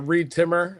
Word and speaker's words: Reed Timmer: They can just uh find me as uh Reed timmer on social media. Uh rhymes with weed trimmer.